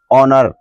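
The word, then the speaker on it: honor: का प्रयोग करना है जैसे ओनर इसमें भी हम एच को साइलेंट रखते हैं ऐसे शब्दों को हमें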